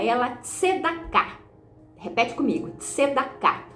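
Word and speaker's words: צדקה: Então, veja bem, no hebraico essa palavra a gente pronuncia ela tscedá.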